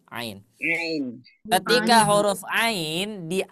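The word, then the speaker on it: عين: ini iya paham enggak aah huruf yang itu namanya adalah Ain Iya Ain namanya adalah Ain nama hurufnya bukan a bukan bukan tapi Ain Ain ketika huruf Ain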